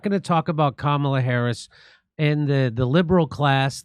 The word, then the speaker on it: Kamala: So they're not going to talk about Kamala Harris and the liberal class, the MSNBC.